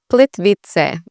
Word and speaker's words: Plitvice: It's really Plitvice. So Plitvice. So the C here is not like a hard C, and it sounds like a ts.